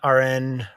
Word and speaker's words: Arran: with guest aaron rodgerson all right uh rn rogerson is that right that's right i'm like more concerned about pronouncing the last name in the first name